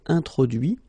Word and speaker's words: introduit: Okay, so the same rule, because, well, basically it's the same group, and then same rule, final T not pronounced, so introduit, produit, réduit, séduit, traduit.